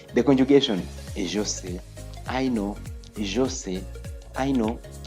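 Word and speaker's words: sais: conjugation is I know say I know say you know now remember there a singular inal form then we have say don't pronounce the S don't pronounce the S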